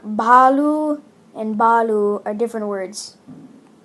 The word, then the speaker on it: Baloo: You're calling Baloo a bear, and it's not pronounced Baloo. It's pronounced Balu.